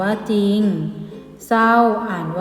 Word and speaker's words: จริง: เช่น จอ ยุ นอา จริง อ่าน ว่า จริง ไหม ต้อง เขียน